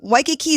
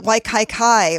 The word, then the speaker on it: Waikiki: kamehameha you know they're like or you know waikiki is easy but then people pronounce it waikai kai or we have a highway that's like leaky